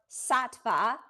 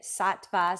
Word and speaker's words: sattva: that we're talking about sattva, um there's different ways of saying it. Satva, Sattva like different parts of India pronounce it a little bit differently.